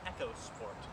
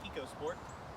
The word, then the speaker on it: EcoSport: it in the u.s under the name echo sport even though it is prone even though it should be pronounced ecosport for some reason ford called it the echo sport anyway this is a